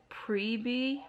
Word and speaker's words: Priebe: trisha's last name wrang i originally said preeby but then i said preeb and preeb just made more sense in my head so i was continuously saying trisha priebe but i was right with the first time i pronounced it and it is pre-b so yeah i'm gonna